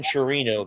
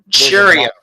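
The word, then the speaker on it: Chourio: And I'm going to go with Jackson Chirino, the outfielder for the Brewers. Churio. I'm sorry. Churio.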